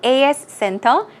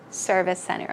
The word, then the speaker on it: service center: at the service center don't say as Cento say service center okay keep that in